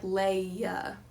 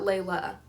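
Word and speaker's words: Laia: There's no L in her name. Well, besides the first one. It's L-A-I-A. I think it's like Leah. Leah, not Layla.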